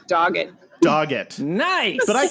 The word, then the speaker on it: Doggett: we're welcoming today daguette did i say the last name right by the way is it dogette you said it way nicer than it's actually pronounced which is just dogged dog it nice but